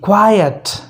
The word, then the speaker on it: quiet: तो इस तरह QUIT, क्विट, QUITE, क्वाइट, QUIET, क्वाइट, समझ गए।